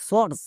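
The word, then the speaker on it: source: হবে যেমন এস ও ইউ আর সি ই সর্স ও ইউ এর জন্য ওকার সাউন্ড হয়েছে এবার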